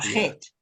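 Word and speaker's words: חית: Shit. Het. No, Het. say the T. Het. Hate. Hate. Yeah. Yeah, het.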